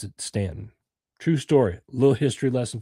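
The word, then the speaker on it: Staunton: somebody was asking for direction, if they said Stuntton, which is what it looks like, they would know that you were from the north and that you were Yankee. So, the South, they pronounce it Stanton.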